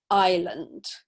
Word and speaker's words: island: so a silent s island okay so we can see in the phonetic and the simple script that there's no s sound there okay and this one